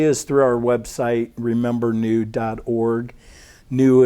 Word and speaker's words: Nhu: Nu is a Vietnamese girl, and her name is spelled N-H-U.